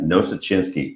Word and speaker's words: Nosuchinsky: today we have Bill Schulz and also Joanna no such insky yes I said it right did it dammit